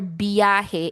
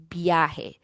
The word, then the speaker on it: biyahe: Consonant cluster is when two consonants are together in one syllable. So, B and Y are together. Okay. Now, in the phonology of Tagalog, we do not have consonant cluster.